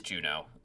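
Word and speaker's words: Juneau: I better go look up and make sure I'm actually pronouncing that right. Okay, we're so back. Yep, it is Juno.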